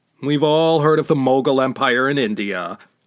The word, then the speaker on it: Mogul: We've all heard of the Mongol Empire in India. Mogul was the Arab or Persian pronunciation of Mongol.